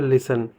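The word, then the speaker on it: listen: जैसे लिखा हुआ है लिसन, यानी कि यहाँ पर आप देख रहे होगे लिसन के बीच में एस टी आया हुआ है, यानी कि जब भी एस टी साथ में होंगे तो टी को प्रोनाउंस नहीं किया था, इसीलिए हम इसको लिसन पढ़ेंगे।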